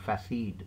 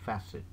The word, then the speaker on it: facet: a word called facet it's not fasseed it's facet and then comes a